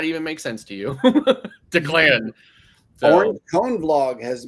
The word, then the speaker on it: Declan: It's pronounced Declan.